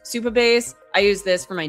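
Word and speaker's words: Supabase: I always want to say subbase, but Superbase.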